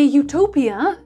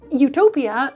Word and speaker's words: Eutopia: Utopia in Greek however means good place and it's pronounced exactly the same way when you say it in English.